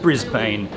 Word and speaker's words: Brisbane: from outside of Australia you'll probably call it Brisbane because it's spelled Brisbane but it is said Brisbane Earth another one of